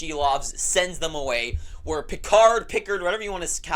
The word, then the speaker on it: Pickard: Where Pickard, whatever you want to say his name. I know it's Pickard, but I've said Pickard, whatever, my whole life.